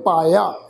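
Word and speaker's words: ਪਾਇਆ: पाया पाठ है जी, पप्पे नू कन्ना जाइए, नू कन्ने दी मात्रा है, इहदा पाठ उच्चारण करांगे पप्पे नू कन्ना, ईड़ी नू सिहारी एड़े नू कन्ना लग जाएगा, पाठ उच्चारण करांगे पाया।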